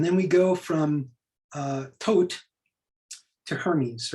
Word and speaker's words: Thoth: um and so the the egyptian god uh thoth or tote uh or thought depending on you know how you pronounce it we don't really know how the ancient egyptians pronounce things but i'm gonna say uh tote was the first alchemist